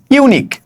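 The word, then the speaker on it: unique: তার আগে আমি বসাবো যেমন আমি যদি বলি ইউনিক ইউ ইউনিক ঠিক আছে ইউনিক এখন আমি যদি বলি ইউনিক তাইলে ইউ এর উচ্চারণ কিন্তু ইউ এর মতই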